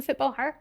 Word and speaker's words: FootballHer: Hello, congratulations on FootballHer. Thank you very much. Thank you for having me. Am I saying it right? FootballHer? Yeah, FootballHer. Yeah. FootballHer? Yeah, FootballHer. FootballHer. Just like footballer with a H.